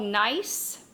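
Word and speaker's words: gneiss: then we have something called nice the g is silent nice nice can have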